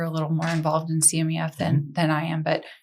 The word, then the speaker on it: CMEF: And tell us about CMEF.